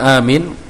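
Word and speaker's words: آمين: Mimnya enggak boleh ditasdid nggih. Kalau ditasdid nanti artinya sudah beda. Pripun Pak Timingin? Nah, bacaan amin A-nya sama minnya panjangan mana? Panjangan A-nya. Amin.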